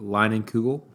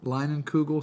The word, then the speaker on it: Leinenkugel: So this episode is sponsored by, how do you pronounce that? Line and Kugel. Leinenkugel Summer Shandy.